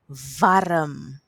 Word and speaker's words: warm: In Afrikaans, the w is pronounced like a v. Can you say v? Great. Let's use it in some words. In Afrikaans, we have warm, warm, warm.